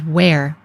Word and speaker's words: wr: from other birds well this was used for the sounds W and R so in modern times we pronounce this as where but it does look